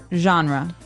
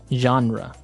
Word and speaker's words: genre: We say genre. Genre. Word genre. This kind of sounds French.